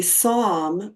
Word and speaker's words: Psalm: this last boom a Psalm of Life like the Psalms in the Bible it's spelled with a silent p s a l m so a Psalm is